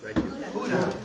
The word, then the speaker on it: Gouda: So, does anybody know how to pronounce the cheese Gouda? Gouda. Oh, that was perfect. You're getting closer. Gouda? Throw a little bit of Hebrew and Gouda? in this case, a little Germanic, Dutch.